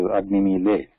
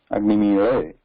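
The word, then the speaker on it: अग्निमीळे: So nobody pronounces it as Agnimile. Agnimire, that is right.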